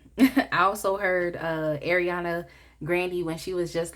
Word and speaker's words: Grande: cry you know and the reason why I said Ariana Grandy is because I heard that that's how you say her name it's not grande but whatever to each